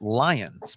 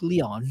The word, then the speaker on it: Lyons: So Lions, but I pronounced it.